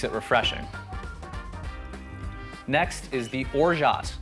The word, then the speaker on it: orgeat: Next is the orgeat. It's O-R-G-E-A-T. It's orgeat, but it's pronounced orgeat.